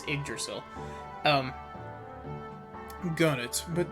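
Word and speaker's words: Yggdrasil: head to the palace in the uggdrasil i mispronounced that it's iggersil um who got it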